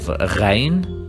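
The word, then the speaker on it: غين: Then we have Ghain, written like Ain but with the point, and we pronounce it Gh, like Ghazal, which means a deer.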